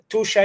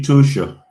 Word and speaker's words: Tuscia: Roy, can we say that Tusha is extending your life on top of giving you a very high quality of life?